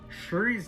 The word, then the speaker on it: Shuri: like their fursona right shuri's name rhymes with furry it was destiny for